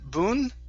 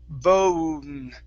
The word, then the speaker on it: bone: next up is okay the word bone instead of Boon it's bone bone bone okay very nice next is